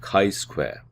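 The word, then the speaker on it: chi-square: not independent we use a Ki Square test statistic pronounced Kai Square the basic idea here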